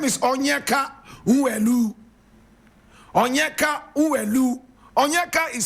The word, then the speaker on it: Onyeka: His name is Onyeka Nwelue. Onyeka Nwelue. Onyeka is spelled O-N-Y-E-K-A.